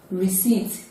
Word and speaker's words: receipt: voiced it is a silence p diaphram photo receipt it is not received it is not received